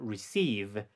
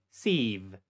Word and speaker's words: receive: Receive. Receive. ¿Te diste cuenta? Aparte de que esta es una I corta y luego es una I larga, receive suena más fuerte que re.